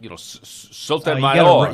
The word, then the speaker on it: Sotomayor: Well, it just needs to be more like, Sotomayor. You got to roll something. I got to roll the R's.